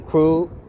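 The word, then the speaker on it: ครู: Oh yeah, KRU. That's called a crew.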